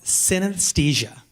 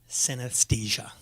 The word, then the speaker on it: synesthesia: idea what that is not emotions it's called synesthesia and yes I will spell it for you it's sy n es th yes I a synesthesia it means perceived together it's basically the result